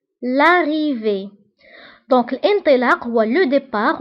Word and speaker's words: départ: دونك الانطلاق هو لو ديبار، وانتبهوا بالنسبة لو ديبار كنكتبوها بالت في آخر الكلمة ولكن لا ننطقها.